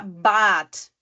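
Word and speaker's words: Bad: Quino por exemplo a palavra Bat Bat né parece que também tu tá puxando aquele a um pouquinho né a mais do que o o normal por quê Porque temos uma consoante depois que é o d Bat palavra Bat B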